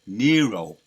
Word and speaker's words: Nero: I was calling IM Neo in my video yesterday so I I'll make a correction on that it's Nero right that's how you pronounce it Nero he would force people